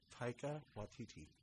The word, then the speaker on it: Taika Waititi: Taika Waititi.